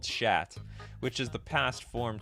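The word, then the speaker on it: Szat: it's minion of tavesh chat it's shat people I didn't I didn't know they or Suzette I think if I was pronouncing this in the Polish way it'd be called chat which is the past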